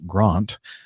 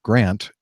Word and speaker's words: Grant: Zealand where it's pronounced Grant then lived for decades in Australia where Grant has a short a sound then after living in